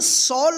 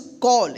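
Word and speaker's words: call: सी A double L इसको सॉल नहीं पड़ेंगे क्या पढ़ेंगे इसको कॉल या क्योंकि सी का दो उच्चारण हमने बताया था पिछले क्लास में स और क तो यहां पे क उच्चारण होगा कॉल।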